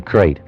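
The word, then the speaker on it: krait: of a snake a crate is first the crate you spell it k r AIT T they're in India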